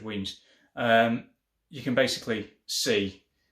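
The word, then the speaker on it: Wemyss: i say pronounce it it looks like wemis but i'm pretty sure it's wings um you can basically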